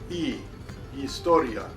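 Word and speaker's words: historia: It has no sound. We do not pronounce it. We go to the second letter. Eistoria.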